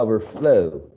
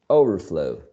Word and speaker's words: overflow: okay understand not understand and overflow not uh overflow okay and restim underestimate